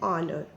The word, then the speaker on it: honor: And when the consonant H is silent, letter H is silent, then also we use an. For example, an hour, an honor.